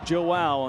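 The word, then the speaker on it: João: His first name is pronounced Joao, and the emphasis on that play on the wow.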